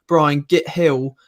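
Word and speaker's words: Gil: I'm seeing some people in the comments section saying about how Brian Hill. I think it's Brian Hill, isn't it? Even though it's spelt with a G.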